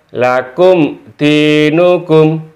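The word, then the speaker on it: لكم دينكم: lakum dinukum bukan begitu Jadi baca yang benar lakum dinukum termasuk mim mati bertemu dengan jadi dibaca jelas seakan-akan berhenti di sini termasuk mim mati bertemu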